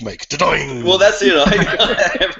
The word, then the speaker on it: Dordogne: Everyone seems to say it slightly differently, but I say Dordogne. Is that right? Yes. You make it sound like the noise that a ball would make. Dordogne.